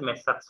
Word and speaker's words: Messrs: You have to pronounce as Messrs.